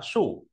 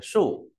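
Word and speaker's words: 竖: Nét sổ thì đọc là sủ. Đây, trên này có trong quyển bảng bộ nhưng thiếu mất cái đấy. Lớp đọc phải là sủ.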